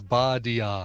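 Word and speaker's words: ba-dee-ya: Some people say it's on and on, or all in all, or party on, but really it is 3 syllables. Badia. Oh, and, I always thought it was nonsense, but I wasn't sure the exact syllables on it.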